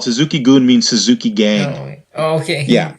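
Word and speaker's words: Suzuki-gun: that's what they're called Suzuki Geun means tsuki game okay yeah it's a Japanese goon goon is spelled gu n it means like yeah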